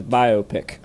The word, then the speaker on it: biopic: The first 2 syllables of biography is bio, and the first syllable of picture is pick, and therefore Jesse Dukes will be saying it as biopic heretofore.